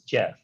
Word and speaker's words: GIF: him point blank and he said it's jif and just as you pronounce it imager and not inger the person that invented the name should have the right to claim how it's pronounced and so i understand that it's jif and then in terms